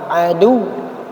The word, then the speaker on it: عَدُوٌّ: Jadi ketika dia wawnya bertasdid sama waw tidak bertasdid berbeda ketika dia disukunkan. Maka ketika dia itu tidak bertasdid maka bacanya adu. Jadi mat tobi'i dia. Tapi ketika dia bertasdid maka dia tidak jadi mat tapi ditekan adu.